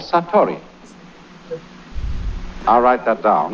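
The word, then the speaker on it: satori: is in Japanese in Zen it is called saturi I'll write that down.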